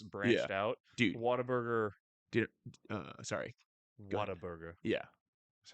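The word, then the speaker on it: Whataburger: started in California and then it's branched out waterburger uh sorry waterb yeah that's how you say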